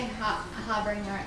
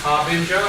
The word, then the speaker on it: harbinger: Oh, I love that you say Harbringer as well because that's like what I do when I'm spacing out. It is how it's pronounced Harbinger.